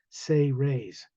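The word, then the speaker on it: Say-Rays: say raise human race is pronounced as if it was phonetically spelled out s-a-y hyphen r-a-y-s say raise they're human at one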